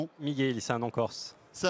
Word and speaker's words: Michel: c'est Michel ou Michelly, comment on prononce votre nom ? Miguel, c'est un nom Corse.